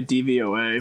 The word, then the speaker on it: DVOA: I always just say DVOA. That is, there are 4 letters, and then you pronounce each letter.